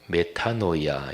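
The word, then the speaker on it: μετάνοια: 표현하는 성경이 용어가 회개입니다 헬라어로 메타 노 이야 이렇게 발음하는 데 가던 길을 완전히 받고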